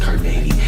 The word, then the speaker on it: Carnegie: It's pronounced Carnegie.